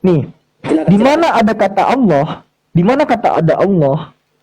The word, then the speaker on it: Allah: keluarlah lima huruf ini dibacanya tetap Allah. Karena kenapa? Di situ ada lam jalalah dibaca tafkim. Hm. Tebal. Tafkim atau tarkib ya? Mohon maaf kalau misalan ya. Dibaca tebal.